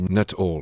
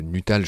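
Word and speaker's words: Nuttall: Ça s'écrit Nutal, ça se dit not all. C'est un États-Unis, l'engoulevant de Nutal, je le prononce à la française.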